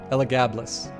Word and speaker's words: Elagabalus: Oh yeah, it is Elagabalus. I'm still going to mispronounce it each time.